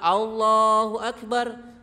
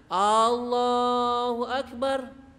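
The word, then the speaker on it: اللهُ أَكْبَر: Jadi alif lamnya itu hilang, malah dipanjangkan A-nya. Allahu Akbar. Sepertinya biasa, tapi itu artinya berbeda. A-nya itu menunjukkan apakah. Maka jangan diucapkan. Atau akbarnya A-nya panjang. Allahu Akbar. Biar kelihatan bagus itu ya. Tapi itu salah. Karena akbar itu berarti bukan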